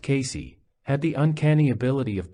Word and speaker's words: Cayce: Casey, pronounced Casey, had the uncanny ability